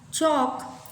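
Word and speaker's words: chalk: टॉक, वॉक, चॉक, तो L हैज़ no sounds. तो name the pictures and circle the silent words.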